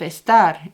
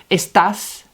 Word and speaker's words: está: So we're not saying esta, we're saying está.